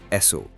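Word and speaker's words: Esso: عالمی برانڈ متعارف کرایا، ایسو۔ یہ نام دراصل ایس اور او یعنی اسٹینڈرڈ آئل کا صوتی تلفظ تھا۔ امریکہ کے باہر جہاں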